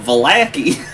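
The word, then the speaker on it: Vallaki: was very no the lake is close to Baki it that's how we've been pronouncing it this whole time vaki just like the V lake is huge it's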